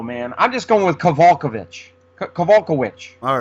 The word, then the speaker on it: Kowalkiewicz: That's what I thought, and people are saying Kowalkiewicz. I hear them pronounce their names differently all the time, so I don't know what. I'd see that usually in Polish, which she is, the WICZ is which, and I think the